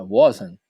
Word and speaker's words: wasn't: Geralmente eles dizem I wasn't, tá? Eles não pronunciam esse Tzinho no final, não.